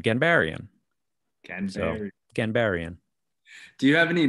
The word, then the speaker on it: Ghanbarian: is from Iran, and the proper, I guess, like Persian pronunciation would be more like Ghanbarian. But the twist on all of that is I'm from Long Island. So it's always just been Ghanbarian.